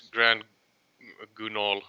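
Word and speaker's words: Grand Guignol: Uh, I guess it's Grand Gunol or something like that. Yeah. It's French. It's French.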